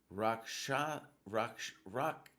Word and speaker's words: Rakshasa: It's pronounced Rakshasa, like Picasso. Wait, how is Rakshasa similar sound as Picasso? But just the ambush is always fine.